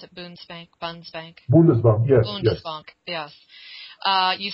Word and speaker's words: Bundesbank: Is that how you pronounce it? Bundesbank? Bundesbank, yes.